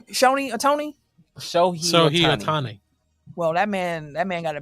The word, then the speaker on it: Shohei Ohtani: How do you pronounce his name? Shohei Ohtani.